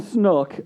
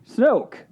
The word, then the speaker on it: Snoke: I'm saying Snook, and how do you say it? Snoke. Snoke. That's what I'm saying. You're saying Snook. Snook. Snoke. Snoke. Like rhymes with smoke?